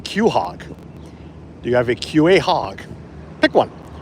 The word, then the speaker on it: quahog: Do you have a QA hog? Pick one. If you're from here, it's a quahog. So pronounce C-O-H-O-G, quahog.